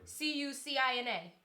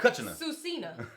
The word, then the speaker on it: Cucina: can't see the word c-u-c-i-n-a cochina Cucina okay I wasn't sure I didn't want to say it wrong and be like susina um and then you